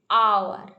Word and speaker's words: hour: इधर देखो एन आवर, HOUR लिखा है, लेकिन प्रोनाउंसिएशन अ आती है। एन आवर, an honest, HONEST, honest, that इधर क्या है ना, H साइलेंट है।